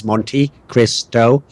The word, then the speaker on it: MonteCristo: My other host is MonteCristo, and that's exactly how he wants everyone to refer to his name. It's actually three syllables.